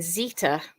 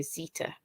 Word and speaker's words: Zeta: in get how you would say e then Zeta which makes the sound Z which comes at the end of the English alphabet but in the Greek alphabet it comes much nearer the beginning so Zeta then we've got this letter here which is